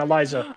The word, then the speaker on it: Eliza: Eliza.